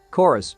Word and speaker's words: Chorus: Chorus, which is not spelled like Chorvs as the trailer suggests, is a new spaceflight combat shooter slated to launch in 2021.